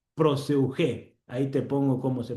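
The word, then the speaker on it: προσευχή: Proseugé. Proseugé. Ahí te pongo cómo se pronuncia.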